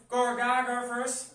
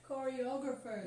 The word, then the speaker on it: choreographers: JP or all the Gorgagavers, or all the... How do you say Gorgagavers? I say that. choreographers. Choreographers. Yes, choreographers. Yes.